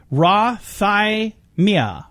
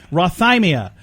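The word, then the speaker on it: rhathymia: word of the day and the word is Roth aye Mia Roth I am yeah that's it's not easy to say Roth I Mia in order to say it properly you need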